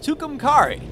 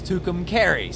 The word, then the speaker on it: Tucumcari: time I recorded and I mispronounced Tucumcari apparently it's Tucumcari so I do apologize